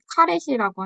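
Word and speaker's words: caret: KNN을 하기 위해서는 이제 정규화나 표준화를 먼저 해줘야 되기 때문에 뭐 이제 강의에 있었던 대로 이 발음이 카렛이라고 하네요.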